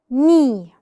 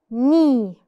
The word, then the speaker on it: knee: If the letter K is followed by N, the K is silent.